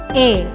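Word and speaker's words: へ: Partikel e ditulis dengan huruf hiragana he, tapi dibacanya tetap e.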